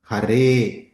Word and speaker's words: Hare: Thus, the following syllables are long in the Mahamantra: Hare, long vowel, a, Krishna, short vowel, r, but ensued by two consonants, sh, nya.